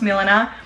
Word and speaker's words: Milena: My name is Milena. It's pronounced Milena.